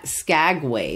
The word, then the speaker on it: Skagway: San Francisco to the sea port at SCA Skagway is that how you pronounce it Skagway MH well once you get to Skagway you